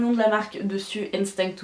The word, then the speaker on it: Instinct: Donc noir basique avec le nom de la marque dessus, Instinct ou Instinct si je le prononce à la française, et le logo qui est juste derrière.